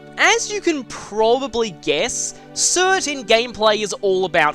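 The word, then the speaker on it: Surt: Cert, sometimes spelled with a silent R on the end, is a Jotun of fire in Norse mythology, and the ruler of Muspelheim, the realm of fire.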